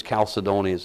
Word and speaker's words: chalcedony: the way it goes I think I think it's calcidonies it's a proper pronunciation so if it has